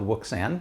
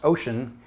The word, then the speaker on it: Wouxun: this is it right here this is the ocean and yes i know it looks like it's spelled wiksan but it's pronounced ocean kg805g and on it i have the upgraded